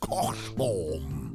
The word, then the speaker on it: Cockbottom: Cockbottom. It's pronounced cock-bottom, love.